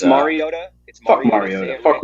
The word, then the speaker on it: Mariota: It's Mariota.